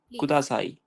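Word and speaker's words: ください: Okay ஞாபகம் இருக்கா எல்லாமே ப்ளீஸ் எப்படி சொல்லுவோம் குதாசாய் குதாசாய் இன்னொரு வர்ட் என்னது ஒேகாய் ஷிமாஸ் இந்த வேர்டு இருக்கா?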